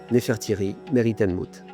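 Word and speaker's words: Nefertari Meritmut: Donc ça s'écrit comme ça et ça se prononce Nefertry Meritan Mout ce qui signifie la plus belle de toutes et de mouth.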